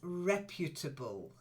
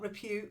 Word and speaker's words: reputable: yes ancient good and then reputable reputable don't forget to use the kidnapped threads Constantine okay they're beautiful not repute reputable reply listen to the stress listen to the stress reputable reputable beautiful okay this is getting